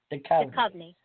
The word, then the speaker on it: Duchovny: How do you say it, David Duchovny or Duchovny? I've used his picture for years. Duchovny. Yeah.